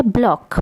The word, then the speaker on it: Bloch: रहे हैं ब्लॉक theorem spelling इसकी जरूर बेलो टो सी विच है बट इसे कहा जाता है ब्लॉक प्रोनोंसीएशन इसका है ब्लॉक तो रमेश को डिस्कस